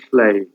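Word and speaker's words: Lleu: So the hero Flay in the fourth branch of the Mabinogion, double L-E-U, is Flay.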